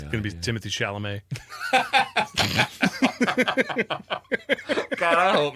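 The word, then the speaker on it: Timothée Chalamet: I saw a funny interview with him just the other day where somebody was like, it's Timothy, right? Or Timotei.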